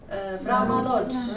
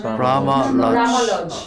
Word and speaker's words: Brahma Lodge: And this one, there's two strong syllables. Brahma Lodge. Brahma Lodge.